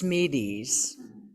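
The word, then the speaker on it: Smedes: today are by lewis i believe it's pronounced smeedes to forgive is to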